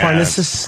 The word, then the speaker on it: Parnassus: Parnassus.